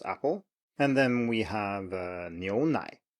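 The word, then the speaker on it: 牛奶: And then we have 牛奶, 牛奶.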